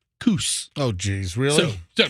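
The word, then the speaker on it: Kuss: fans it's actually pronounced Coos oh geez really so I mean you know Seth so it's Coos like goose k-u-s-s is not cuss it's Cush I don't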